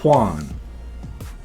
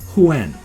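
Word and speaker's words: Yuan: to best pronounce it, because it's Y-U-A-N, a lot of people in, Western English-speaking countries pronounce that as Juan. But it's not. It's more like Huan.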